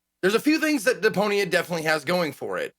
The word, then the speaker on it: Deponia: Am I pronouncing this correctly? Deponia. Oh yeah, Deponia.